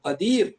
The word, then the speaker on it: காதிர்: காதிர் என்று சொல்லாம காதர் அப்படின்னு சொல்லிடுறாங்க. அது காதிர்.